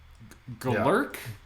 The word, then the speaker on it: Golurk: Is it Golurk? Like I imagine it's pronounced. It's like Gollum. Golurk.